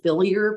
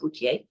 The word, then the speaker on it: Bouthillier: a funny way to it looks like builer but it's pronounced bouier and it's um uh you can also reach me through my email is liner.